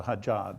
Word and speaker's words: hijab: Now, I believe it's a hijab. Did I pronounce that properly?